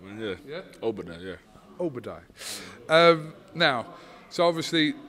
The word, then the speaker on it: Obodai: Pronounce it right, man, yeah. Yeah? Obodai, yeah.